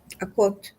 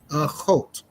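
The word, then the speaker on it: אָחוֹת: Akot. Achot.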